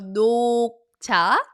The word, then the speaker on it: 녹차: So 녹차, 녹차, 녹차 sounds like knock knock.